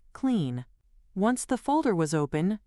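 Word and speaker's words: Cline: He could even have done this from the command line with tools like GitHub Copilot CLI or KLEN, which I am told is pronounced clean.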